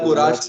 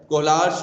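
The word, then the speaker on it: Kohlrausch: और अभी इसके बाद कोराश लॉ आएगा कोराश लॉ आएगा, तो उसका भी बड़ा प्रोनाउंसिएशन बड़ा अजीब सा है, कोहलार्श लॉ है एक्चुअल में, कोहलार्श लॉ, ठीक है,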